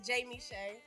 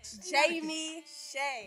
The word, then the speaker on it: Jayme Shaye: It's Jayme Shaye. I don't like the way you gotta say that. Jayme Shaye.